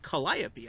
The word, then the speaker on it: Calliope: They're like, no, you mean Calliope. I was like, what? They're like, yeah, that's how you pronounce it. It's Calliope.